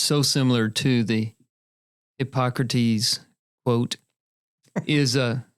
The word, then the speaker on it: Hippocrates: Hypocrates quote is a Did I say it right? You did. Okay. I wish you would have said it. If you hypocrites, if you had said hypocrites, I'd have fallen off the chair.